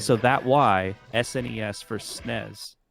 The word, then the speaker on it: SNES: that why SNES for snez I think the right answer is you're supposed to say snez because that's the English way snez is shorter to say